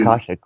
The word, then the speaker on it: Akashic: I never know how to pronounce it correctly, but the Akashic records. It would have to be. Akashic record.